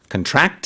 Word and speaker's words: contract: 명사로 썼을 때는 발음도 약간 달라지고요. 그 어떤 계약서라는 뜻이 있지만 동사로 말을 할 때는 강세를 뒤에 넣습니다.